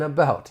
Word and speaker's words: about: And the final T in about. I told you I'm from the US, so I am going to pronounce it as a flap T. It's going to sound more like a soft D.